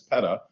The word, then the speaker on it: peta: big so a petabyte it's pronounced peta not peta like the organization it's peta petabyte is about one